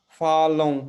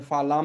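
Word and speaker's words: falam: जैसे फालों, इसको हमें फालाम नहीं पढ़ना है, जैसे स्पेनिश में होता है फालों।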